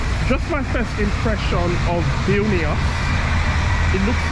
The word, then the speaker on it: Vilnius: Is it Vilnius? Vilnius. How do you pronounce it?